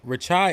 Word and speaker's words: Rachai: He said, Hamp, Rachai is pronounced Rachai like chai tea.